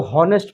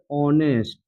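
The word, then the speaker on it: honest: है ना तो ऑनेस्ट ऑनेस्ट में क्या है एच साइलेंट रहता है ऐसा नहीं इसको होनेस्ट पढ़ेंगे इसका प्रोनंसिएशन होता है ऑनेस्ट ऐसे ऑनेस्ट देखिए यहां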